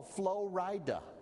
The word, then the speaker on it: Flo Rida: And in seconds, it comes up, oh, Flo Rida. Which is spelled like Florida, only you split it in two, and then you sound real cool.